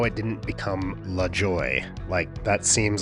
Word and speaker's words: Lajoie: Clearly, it's of French origin, so with the French phonetics, it should be, I guess, Lajoie, which is actually how Nap preferred it. But from what I've read, it was likely pronounced at the time as Lajoie, or Lajoie, or Lajoie, or something like that.